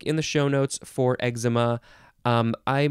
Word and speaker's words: eczema: The last word is eczema. ECZEMA. You can pronounce it eczema, eczema, or eczema, however you want to say it. If you even want to say eczema, that's fine too.